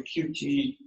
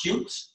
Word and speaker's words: Qt: And then I have actual QT windows. It should be pronounced cute, but nobody said that.